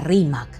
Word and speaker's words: Rímac: y a su río, no lograban pronunciar bien la palabra Rímac. La entendieron o la deformaron como Limac y posteriormente le quitaron la letra final y terminó siendo solamente Lima.